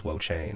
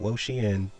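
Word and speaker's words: Wo-Chien: I know it's not pronounced that way, but that's what we're going to call him on this channel. On this channel, he's Wochain. Not Wochien, but Wochain. Then, last but not least, we have the Sliggoo Hisui.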